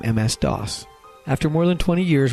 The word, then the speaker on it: DOS: industry sometimes reminisce about Doss it was the first operating system that many of them used and its cryptic command line interface left an indelible impression dos which rhymes with toss stands for dis operating